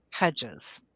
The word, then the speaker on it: Heggyes: His name is Robert Bruce Hedges, but it's spelled Heggyes.